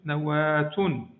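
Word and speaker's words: نواة: Mais si on la prononce dans le milieu de la phrase, on ne va pas dire nawa, on va dire deux points ici, on va dire nawatun, nawat.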